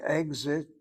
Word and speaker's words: exit: If I say exit, sounds like a GS.